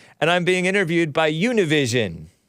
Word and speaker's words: Univision: I'm being interviewed by Univision is that Univision or as American Anchor baby rightly pronounces it Univision union he didn't say it all all Spanish like that but look at